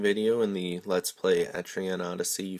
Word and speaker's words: Etrian: Hello and welcome to my second video in the Let's Play Etrian Odyssey 4 series.